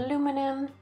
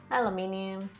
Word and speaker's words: aluminium: itinerary which is what normal people say instead aluminum aluminium it's aluminium and you know that same thing